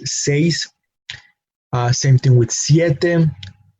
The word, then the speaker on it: siete: Same thing with siete. The pronunciation again of that vowel is sie. And complete the word with te, with the syllable te. So we have siete.